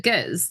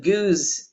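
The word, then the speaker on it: gueuze: Now I've had the unflavored, the goose, that's just no flavor, and I have to say honestly, it's disgusting to me.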